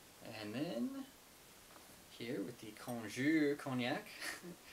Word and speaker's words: cognac: then here with the konjour cognac I like to use the kind of like French pronunciation of it it sounds a little more